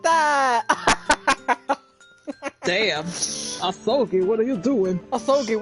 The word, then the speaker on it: Asogi: Prosecutor Asogi, your opening statement, if you please. I've heard somebody pronounce it Asagi, and I was like... Asagi? Ugh! This man's soggy!